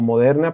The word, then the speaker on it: Moderna: poco más grandes moderna en realidad nosotros lo pronunciamos como moderna pero el nombre es o sea modo rna esto nos dice que es una vacuna de rna la Universidad de queensland